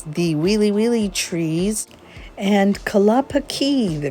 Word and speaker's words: Kalapakī: wheelie wheelie means the wheelie wheelie tree and kalapaki the correct pronunciation of the bay behind me means either